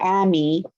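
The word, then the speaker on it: עמי: get to the my, so emi versus ami, they're changing vowels. it's also a different different consonant.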